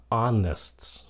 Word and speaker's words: honest: k kel tiếng Anh Cái chữ này là h còn chữ này là Honest cái âm h nó cầm Honest chữ này chicken